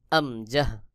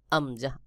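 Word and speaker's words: همزة: এই আমজাহ উচ্চারণ হয় কণ্ঠনালী অর্থাৎ হলকের শুরু থেকে। হলক অর্থাৎ গলা, গলার শুরু থেকে আমজাহ উচ্চারণ হয়। যেমন আমজাহ, আমজাহ, আ ই উ, আ ই উ।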